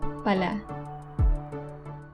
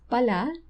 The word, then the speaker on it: pala: with how you pronounce pala because there is another tagalog word which means shovel so for pala the one that we will be discussing the stress is in the first syllable because that's shovel it